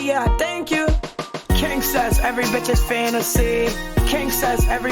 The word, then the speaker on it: Kingcess: We got the rapper Kingcess. That's how you pronounce it, right?